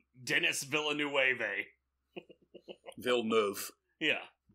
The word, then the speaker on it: Villeneuve: And you taught me how to pronounce his name. I never knew. I thought I would have said Dennis. Dennis Villeneuve. Villeneuve.